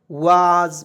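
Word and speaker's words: was: डब्लू ए एस वाज वाज पढ़ेंगे वास नहीं पढ़ेंगे बहुत लोग जो है डब्लू ए एस वास पढ़ लेता है वास पढ़ना बिल्कुल गलत है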